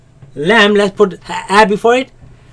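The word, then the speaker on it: ل: This comes from right after the teeth, right after the roots of the teeth, in a place called litha. And we say lam.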